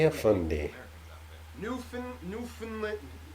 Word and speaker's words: Newfoundland: With the emphasis on the new. Newfoundland. Newfoundland. I don't know if I'm saying it correctly. Newfoundland. Newfoundland, right? What? Yeah. English is not my first language. Yeah. Not the Fin, which is like an FN, not even an I.